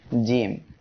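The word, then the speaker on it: ج: জিম অক্ষরে মোট 3 আলিফ টান হবে। সবাই আমার সাথে উচ্চারণ করেন, জিম। এই অক্ষরটি জিহ্বার মাঝখান তার বরাবর উপরে এই তালুর সঙ্গে লাগিয়ে উচ্চারিত হবে।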